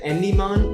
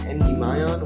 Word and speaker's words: Endymion: I never knew how to say his name, so I just said Endymon, but one of my friends told me it was Endymion, which I thought was kind of dumb.